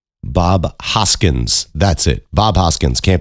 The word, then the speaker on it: Bob Hoskins: Uh John Leguisamo and Bob Hodkins.